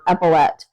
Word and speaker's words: epaulette: I think it's pronounced epaulette. I looked it up and I thought it might, anyway, that's the pronunciation I found, epaulette.